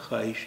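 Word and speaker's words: خواہش: ख्वाहिश इसका उच्चारण नहीं होता है, इसका उच्चारण होता है ख्वाहिश, यानी वाव का उच्चारण यहाँ पे गायब हो गया।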